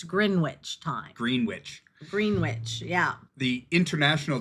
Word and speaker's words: Greenwich: Yeah, and I kept misspelling that word because nowhere is that W pronounced. Yep, and it still isn't, so don't do it. It's Greenwich time.